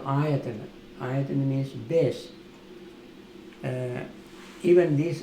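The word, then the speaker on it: āyatana: A-Y-A-T-A-N-A. But first A is long. Well, Ayatana.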